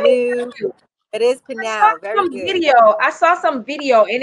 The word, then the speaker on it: Pnau: It is Pnau.